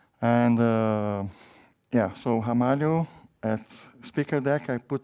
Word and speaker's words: Ramalho: my last name and my last name is pronounced hamu which is a kind of a news here in the US because people I say hamal they go straight to the age of course right and